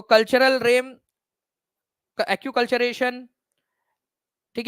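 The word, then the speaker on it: acculturation: तो कल्चरल RAM, acute कल्चरेशन, ठीक है, एनकल्चरेशन क्या कहा जाता है, तो एक्कल्चरेशन या एक्यूकल्चरेशन इसको बोलते हैं आप लोग, एक्यूकल्चरेशन इसका करेक्ट प्रोनाउंसिएशन है, ठीक है, पर संस्कृतिकरण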